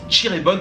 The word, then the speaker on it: Cirebon: prenant le train direction chirebon ça sécrit Cirebon mais ça se prononce chirebon je ne connais pas